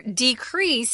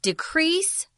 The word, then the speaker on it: decrease: I wanted to mention here, decrease is the verb pronunciation. If it's a noun, it's decrease. So the verb decrease and decrease for the noun.